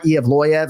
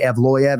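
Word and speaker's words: Evloev: So we go Movsar Evloyev. Some of my colleagues say Evloyev. As long as you're punctuating that second syllable or third syllable, Loy, you're okay.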